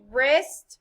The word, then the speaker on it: wrist: for the sound they all have in common wrist rap ren repeat wrist wrap red what sound